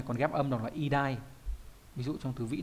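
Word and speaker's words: 偉大: Khi được một mình đúng nhỉ, còn ghép âm đọc là idai. Ví dụ trong từ vĩ đại đọc là idai luôn đấy.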